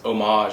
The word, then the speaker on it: homage: It's spelled homage, but it's homage, I think, to paid honor, paid respect to the original movie.